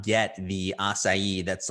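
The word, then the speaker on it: açaí: superfood, super high in antioxidants, and it is pronounced acai, but we get a lot of people who call it acai.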